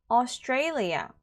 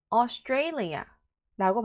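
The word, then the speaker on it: Australia: 두 번째 남아 가면요 austalia 한 번 더 austalia라고 발음하시면 되는데 자 스아라고 발음하시면 틀립니다 알겠죠 a 발음 나야 돼 a 그리고 그 a 강세가 있습니다 세 번째는요 gorgeous gorgeous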